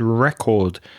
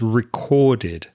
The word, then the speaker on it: recorded: And you said record. It's recorded. So, recorded when the word ends in a d sound. Make sure you pronounce the ed as id.